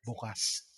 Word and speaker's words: bukas: Bukas.